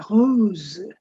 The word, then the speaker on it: rose: pink that's called the hose the hose it ends in as the hose the last s is not pronounced for this format of